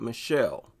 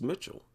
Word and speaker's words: Mitchelle: That looks like Mitchell, not Michelle. I wonder if it's really Michelle Morgan. I've never heard of that name. No, it's Mitchell. Am I pronouncing that right? Mitchelle Morgan.